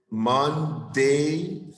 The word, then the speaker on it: Monday: And remember, when you pronounce the days of the week, Monday, Thursday, no die, day. Sunday, no Sunday. Sunday, Saturday, Thursday, the days of the week, the pronunciation of the end is day.